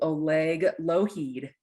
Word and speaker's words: Oleg Lougheed: me i'm going to introduce you all to oleg loheed thank you so much for joining today thank